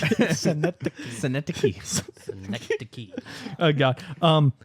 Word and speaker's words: Synecdoche: Syndicate, New York. Synecdoche. Syndicate. No. Jeez, I don't know why you're making me laugh. It's just the way you pronounced it. Synecdoche.